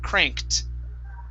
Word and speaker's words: cranked: okay and this will the t is produced after unvoiced sounds like a k okay so this word instead of cranked it's cranked cranked very good good okay